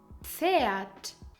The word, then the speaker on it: Pferd: Every time you see P, F, you pronounce it gently as pf and not like an angry pf. For example, Pfanne, Pan, Apfel, Apple, Pferd, horse.